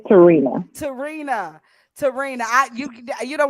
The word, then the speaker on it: Tehrena: you or a fan so how do you pronounce your first name is brown it's Terina Terina Terina you you don't want to know